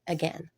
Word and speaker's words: again: Again, these words are said and again, and the I in both words are silent.